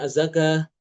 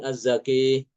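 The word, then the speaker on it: الزكاة: Azzaka dibacanya azzaka bukan azzaki.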